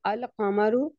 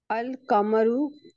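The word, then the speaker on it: القمر: letters में पढ़ेंगे जैसे अल कामरु तो इस प्रोनाउंस को हम अल कामरु इसका क्या हुआ कि अगर हम इसको के साथ ही पढ़ेंगे लिखेंगे भी अल के साथ और पढ़ेंगे भी के साथ सही तो इसको ऊपर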